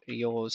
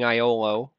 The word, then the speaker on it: Iolo: go over to io yolo's hut curious for anybody who's on the chat i grew up saying iolo and i've heard it pronounced yolo since so that's how i say it but